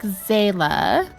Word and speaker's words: Xaela: I pronounce it like Xaela, but it could be because in Japanese it's a Z noise.